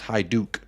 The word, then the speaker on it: Hajduk: It's pronounced Hajduk.